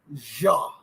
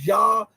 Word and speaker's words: Zha: And I got to bring in Carl Zha. I believe that is. I hear everybody saying Zha, but I did research, and I think in Chinese it's pronounced with a J sound.